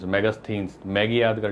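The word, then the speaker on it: Megasthenes: स्थन जो है ना इसकी स्पेलिंग बड़ी जटिल है आप बोलने में जैसे आप कर सकते हो मैगस थिनस मैगस थिनस मैगी याद कर लो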